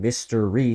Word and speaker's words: Mr. Ree: the Riddler especially because if you say his name Mr. Ree, it sounds like mysteries, you know, like Enigma.